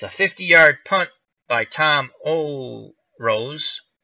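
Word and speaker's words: Orosz: 50-yard punt by Tom Oh Rose I believe you that's what you say his name o r OS z patrons will start first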